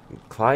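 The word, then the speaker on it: Klei: Cly Entertainment, or Clee Entertainment, as I've sometimes heard them pronounced these days.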